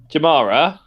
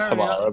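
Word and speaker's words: Jarama: It's slightly longer than Jamara. Yeah. I can never I can never pronounce that one correctly. I know it's Hamara, but apparently I criticized for how I said it in the video.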